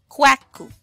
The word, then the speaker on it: Kwaku: on Wednesday, your name would be Kweku or Kwaku. All right. Most often I've heard this pronounced Kweku.